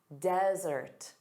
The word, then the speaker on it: desert: Desert. Desert. So, notice the syllable stress is on the first sound. Dada. Desert. And then two s's.